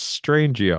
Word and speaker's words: Strangio: It's Chase Strangio.